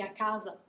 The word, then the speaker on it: casa: end of the word for italians is super super important to pronounce those vowels at the end of words um you have to push until the word is over before you just relax so akaza akazo those are two separate things if i say a